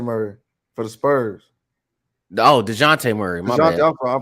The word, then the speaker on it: Dejounte: no Deontay Murray for the Spurs. Oh, DeJounte Murray. My DeJounte, bad. I'm pronouncing it.